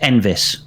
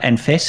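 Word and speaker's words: Enfys: pronounced it's actually pronounced envis not Enis it's more like a V but Americans not going to pronounce that way yeah but it's yeah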